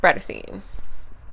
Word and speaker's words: Bratterstein: name is Brittany and my channel name is pronounced raita seen today's videos I'm sure you gather from the